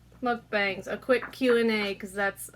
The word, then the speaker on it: mukbang: It's pronounced Goodbye, ball cat. mukbang.